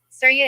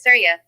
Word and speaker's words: Surya: to see something serious Surya and his Chariot Syria sculpture prep next brev next fast facts pronunciation sewer y a a Origin India roll sun god wives sharanya ragi prabha who is Surya Surya is both the